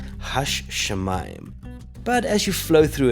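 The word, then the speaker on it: השמים: pronounce it not as ha Shaman but we would pronounce it as hash shemaim but as you flow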